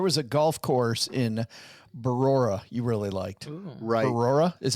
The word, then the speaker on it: Brora: Talk about There was a golf course in Brora you really liked. Brora is how you pronounce that? You added a syllable, I think. It's just You said it right the first time, Brora, not Barora, but Brora.